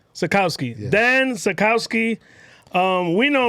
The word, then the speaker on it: Sachkowsky: Not Sachkowsky, not Sachkowsky. I pronounced every single letter. So say it again. Sachkowsky. Sachkowsky.